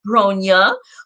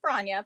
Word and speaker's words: Bronya: where you're from all that good stuff so gronia who are you yes um uh it's pronounced bronya but that's okay um i'm ronya it's